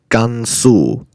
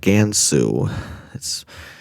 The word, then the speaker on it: Gansu: in Asia, specifically in Gansu, China. It's called Gansu, not Gansu.